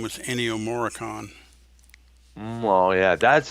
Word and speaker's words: Ennio Morricone: The guy who did its name was Ennio Morricone, Well, yeah, that's how his name is pronounced.